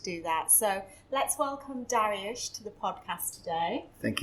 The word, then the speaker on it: Dariush: have checked don't worry arabs say darwish but darius is a persian king but i think in england they say darius darius yeah so how